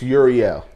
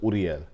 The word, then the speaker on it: Uriel: It's Uriel, but in the Spanish culture, they pronounce it Uriel.